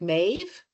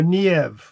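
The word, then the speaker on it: Niamh: That's why I said it can can be pronounced but Oh, so sort of more like mave. No, nev like that more.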